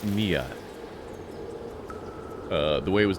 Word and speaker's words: Neyyah: It's pronounced nia.